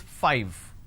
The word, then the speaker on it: five: a while ago is five all right now the pronunciation is five f i v e five so i need to i need to bite my lower lip to end the word it's five the second